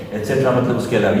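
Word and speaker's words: et cetera: इसको बोला कैसे जाता है, एटसेट्रा, एटसेट्रा, ईटीसी डॉट एटसेट्रा। ठीक है, एक्स्ट्रा नहीं है, एक्सेट्रा नहीं है, एक्सेट्रा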